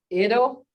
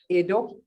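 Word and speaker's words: eto: I, that's a short E sound, and you can tell. Iga is a head. Ido is a tree. Ido, hear that?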